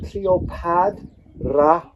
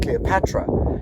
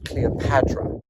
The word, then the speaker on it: Cleopatra: we have hand, and that is actually the D sound, not the T sound. So we have Cleopatra. So we might actually be pronouncing her name incorrectly. It's not Cleopatra, because clearly written here in hieroglyphs, it is Cleopatra.